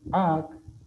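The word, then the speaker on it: áak: Aquí ya no se dice AC, sino AC. Se pronuncia más largo la palabra, la primera letra, porque tiene el acento, el cual como lo utilizamos en español.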